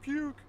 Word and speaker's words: Puke: Is it pronounced Puke or Puke? It's Puke.